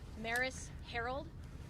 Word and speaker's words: Maris Herold: We're going to start with Police Chief Maris Herold. Her name is spelled MARISHEROLD.